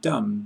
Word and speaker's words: dumb: B must not be heard in doubt. Det and dumb both leave it out.